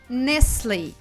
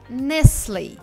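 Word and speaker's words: Nestlé: Правильно, этот бренд произносится как Nestle. Nestle.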